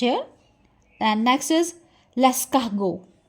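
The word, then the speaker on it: Lascaux: And next is लेस्कागो। लेस्कागो। आर का mostly time जो sound होगा वह ह रहेगा। ह लेस्कागो एंड टी is silent here लेस्कागो। लेट me tell you कि फ्रेंच में सी एच इज़ नेवर च।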